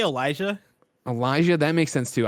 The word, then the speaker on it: Olija: it like a billion different ways i say elijah elijah that makes sense too i'm here ign's video review i'm starting right now they say it right in the front olea is what they say well i didn't i